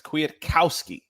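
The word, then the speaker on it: Kwiatkowski: that it actually has a pronunciation guide there, and it's Kwietkowski.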